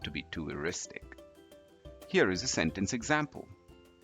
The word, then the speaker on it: eristic: First up, let's talk about this word, which is spelled E-R-I-S-T-I-C. This is pronounced as Eristic.